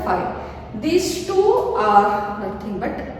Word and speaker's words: phi: This we pronounce it as a phi.